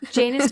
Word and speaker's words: Janus: Janus rhymes with anus.